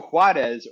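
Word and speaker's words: Juárez: moved to um HZ I I pronounce it to huarez right across from Elbo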